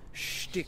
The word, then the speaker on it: shtick: It's not pronounced stick, it's pronounced shtick. Shtick, okay.